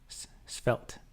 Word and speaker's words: svelte: Svetel is pronounced svelte. Svelte like melt, but SV instead of M.